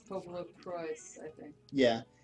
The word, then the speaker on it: PopoloCrois: Yeah, it's supposed to be phonetic PopoloCrois, even though it's based on what popolo from Italian, which is people, and what cose or cois or something from French.